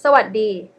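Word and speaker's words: สวัสดี: You know, if you remember how to say hello in Thai, it's sawaddi, okay? Sawaddi. But we dropped it a lot. We actually dropped the first syllable, sa.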